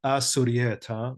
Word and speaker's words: Asurieta: So if you know Assyrian, you'll see Sluta Qamillat Suryeta is actually Asurieta. So you want to say Assyrian, not Syriac or Syrian. So the alab is silent, just as, for example,